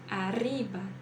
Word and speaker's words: arriba: consegui tá então praticar quando nós temos dois RS no meio de uma palavra também então abor rdo abor rdo arriba arriba Corrientes Corrientes E se a gente tem